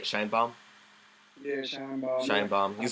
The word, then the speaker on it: Shienbaum: Shienbaum.